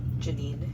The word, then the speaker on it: Janine: I've known Janae Pettit for Janine. Janine Pettit. I always say her name wrong for years and she said, "Hey, we're having this event."